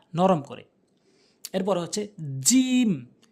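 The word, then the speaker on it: ج: এরপর হচ্ছে জিম। জিম, অর্থাৎ জিহ্বার মাঝখানের অংশটা উপরে তালুর সঙ্গে লাগাতে হবে। উপরে তালুতে লাগাবেন, তাহলে জিম সঠিক উচ্চারণ হবে।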